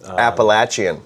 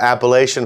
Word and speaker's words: Appalachian: Appalachian. Yes, that's how you say it's not Appalachian folks.